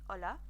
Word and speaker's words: hola: so you've got hello hola now remember with the H you're not pronouncing the sound because it's silent it's more for written purposes so you're saying hola so it's waving to my